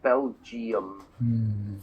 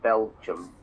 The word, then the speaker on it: Belgium: It's only 2 syllables, not Belgium. It looks like Belgium, but it's just Belgium.